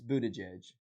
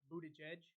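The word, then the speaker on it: Buttigieg: man I don't know for me it's it's Buddha judge Buddha judge yeah okay it's this is the trick to how to pronounce I learned this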